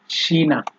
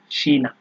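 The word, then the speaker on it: China: এই সেহা যখন হচ্ছে আপনার বাক্যের শুরুতে ব্যবহার হবে, তখন এটার উচ্চারণ তালিবর্ষ বা দন্তস্ব যেটাই বলেন, মানে স এর মতো হয়। যেমন এখানে আছে শেমি, শিনা, শেফ, ঠিক আছে।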